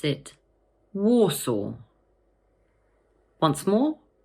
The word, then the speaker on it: Warsaw: So just break it down into two parts, war and saw. The stress falls on the first syllable. So in full, we pronounce it Warsaw. Once more, Warsaw.